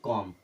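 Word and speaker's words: comb: बी इसे क्या पढ़ेंगे सी ओ एम बी को पढ़ेंगे कॉम क्या पढ़ेंगे कॉम क्योंकि बी के पहले एम आया मतलब बी गया अब ये बचेगा काम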